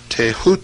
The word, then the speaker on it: Thoth: scribe of the gods Thoth pronounced taehu T the so-called Emerald Tablet